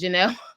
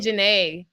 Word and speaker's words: Jenelle: that either sad thing is my name is Janelle yeah oh is Janelle I've been saying Jana I thought I've been saying Jana this whole time yeah Janelle okay I